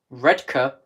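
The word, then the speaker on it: Redcar: central red gates long back mask and saltburn red Kerr is the correct pronunciation red cup oh I didn't actually sell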